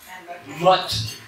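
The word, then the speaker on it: matte: Eux autres, ils l'ont gardé maths, M-A-T-T-E, sauf qu'ils le prononcent mot. Non, mot. Mot, comme dans la motte de terre.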